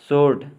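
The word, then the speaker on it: sword: W silent वाले वर्ड्स। Wrong, गलत। Answer, उत्तर। सोर्ड, तलवार।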